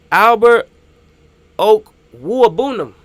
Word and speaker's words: Albert Okwuegbunam: How the heck do I pronounce this name? Albert Okwuegbunam. Albert Okwuegbunam.